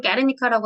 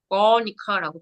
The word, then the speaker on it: Guernica: 그래서 한국어로는 게르니카라고 하는데 Guernica라고 발음합니다.